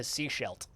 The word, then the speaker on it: Sechelt: Sechelt, not seashores. Sechelt. That's how it's spelled. Sechelt.